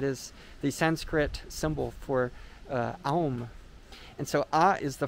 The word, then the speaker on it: aum: But together you have the a and un, you put it together, that'd be aum.